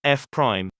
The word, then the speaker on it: F Prime: It's called pronounced F prime.